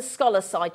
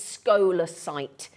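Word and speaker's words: scolecite: if you look at if you imagine s k o so rather than scholarside it's scholar sight that's how it's pronounced but my goodness me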